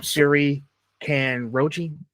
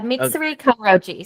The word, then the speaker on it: Mitsuri Kanroji: Um, Siri can Roachi. Did I say it right? Yeah. Mitsuri kroji. So very close.